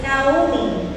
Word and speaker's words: Naomi: sa Hebrew di ay, ang pronunciation sa Naomi is Naomi, but it's very difficult for us sometimes. So Naomi is okay.